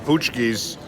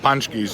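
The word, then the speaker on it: pączki: Ponsky I'm a little embarrassed I've been uh pronouncing these things wrong I've been calling them poochkis but I was informed that they're actually called punch keys in Polish so I've been saying looks like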